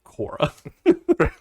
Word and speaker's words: Cora: But the point is, like, I think the show is just called Cora.